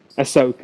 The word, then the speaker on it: Ahsoka: How do you pronounce it? Ahsoka. I was going to say Osaka, but that's a place in Japan.